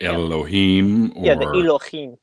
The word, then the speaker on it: Elohim: that's where they come up with words like Elohim yes yes actually very good pronunciation I speak Hebrew so that was pretty